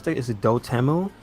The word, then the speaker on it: Dotemu: How do you pronounce that? Is it Dotemu? Dotemu, yeah.